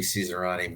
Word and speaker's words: Cesarani: Yeah, I butchered it at the first go. It should be Cesarani, but what can I say?